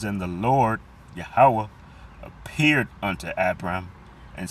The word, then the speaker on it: Yahweh: And it appears to say Jehovah, but we know that there's no V, there's no E in the Hebrew. So we know that that's V is pronounced as a W, and his name is Yahweh.